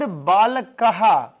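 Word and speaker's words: बालकः: Then also you see here, the word Balakaha ends with aha pronunciation. Balakaha, aha.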